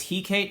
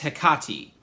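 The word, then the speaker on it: Hecate: goddess uh I guess her name is pronounced heati I always thought it was heate or heate but Wikipedia is telling me that it's hiati I'm going to go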